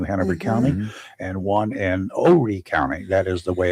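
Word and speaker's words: Horry: One in Wilmington in New Hampshire County and one in Ori County. That is the way it's pronounced.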